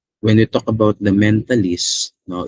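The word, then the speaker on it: mentalese: Yeah, it's mentalist. So when we talk about the mentalist, no, it's a language of thought.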